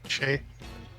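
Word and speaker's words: Skjei: No, how do you say that name? This is from FHM3 too. Shea. Brady Shea. Shea.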